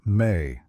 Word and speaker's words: me: A key concept in Mesopotamian cosmology was the idea of me pronounced may.